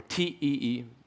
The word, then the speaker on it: TEE: So a T is or a TEE, some people pronounce it like that, is a trusted execution environment.